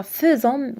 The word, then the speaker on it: faisons: بالنسبة للفعل faire, je fais, tu fais, il, elle fait, nous faisons, يعني في النطق تتقرأ faisons ولكنها تكتب بأ.